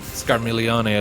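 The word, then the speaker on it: Scarmiglione: Scarmilione is apparently how it's pronounced.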